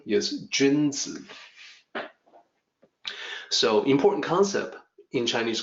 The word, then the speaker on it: 君子: me do that again if you assume that Ju in sounds like the month of June the June in month of June or the named June and then Z you may say June Z which is close to gins so the actual pronunciation